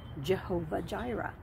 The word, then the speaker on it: Jehovah Jireh: in English often pronounced Jehovah Jireh. Now that is an extremely anglicized version of a Hebrew name that would have pronounced something more like Yahweh Yireh.